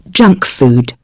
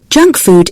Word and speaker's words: junk food: look at the expression junk food junk food is food which is quick and easy to prepare although it isn't very healthy the stress is on the first word junk junk food practice the